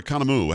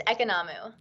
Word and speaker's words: Economou: her name is is it economo or kanamu how do you say your name it's economo economo well there you go